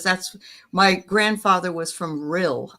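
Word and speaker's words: Rhyl: But um anyway, well that's cool to know, Garnet, because that's my grandfather was from real. I think that's how you say it. R Y R R H Y L real Wales I believe.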